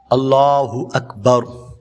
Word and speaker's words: اللہ اکبر: تو نماز نہیں ہوگی۔ درست تلفظ کیا ہے؟ اللہ اکبر۔ ایک اور غلطی جس